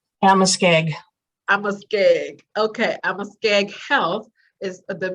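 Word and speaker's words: Amoskeag: Amaskeg.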